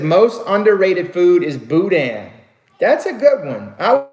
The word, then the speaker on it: boudin: to say boudin boudin it's like it's it's like the bo u part is like boo and then is the DI in Buddha Buddha you know there's people that felt like booting it that's not how I spell it and we don't call it boot day neither okay boo Dane